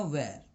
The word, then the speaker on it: were: यू के साथ लगेगा वेयर. WERE. वेयर नहीं प्रोनाउंस करोगे, प्रोनाउंस करोगे वेयर. वेयर भी बोल सकते हैं, वर भी बोल सकते हैं, दोनों चलता है. यू वर या यू वेयर.